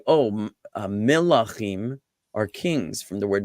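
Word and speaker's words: מלח: Okay, now it most closely relates to another very familiar simple word that some people may know, which is melach, which is spelled mem lamed chet, just like malach.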